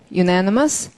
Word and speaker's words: unanimous: 발음해보시면, unanimous. 자, unanimous라는 말은, 며칠 전에 얘기한 것 같아요. 그렇지 않습니까? 예, 윤이라고 읽어야 된다. 윤. 언이라고 읽지 마시라.